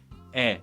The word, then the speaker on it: 의: The standard pronunciation of 의 is 의, but to make it a little more convenient and smooth and easier, people often pronounce it as 에 too.